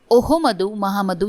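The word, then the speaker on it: Ouhoumoudou Mahamadou: ओहमदऊ महामदऊ ये इनका प्रोनाउंसिएशन है, और इनका जो ट्रिक होगा वो होगा, निगर में जाके महा मैड हो गए।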